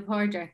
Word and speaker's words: Pádraig: Patrick's Day in Irish is Lá Fé le Pádraig.